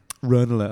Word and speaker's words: Ranelagh: Matt and I used to live together in a flat out in Ranelagh. And a flat in Ranelagh. Ranelagh, actually, sorry, it's pronounced like that.